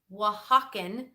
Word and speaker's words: Oaxacan: We've got Oaxacan green dent corn. So in case you weren't sure how to pronounce that, it is Oaxacan green corn, and it is spelled Oaxacan.